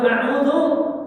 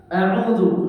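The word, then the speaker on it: أعوذ: Juga nanti dalam tajwidnya, pengucapannya, jangan sampai dua-duanya dibaca hamzah a'udzu. Jangan sampai dua-duanya dibaca ain a'udzu. Nah, jadi hal-hal tersebut merubah makna.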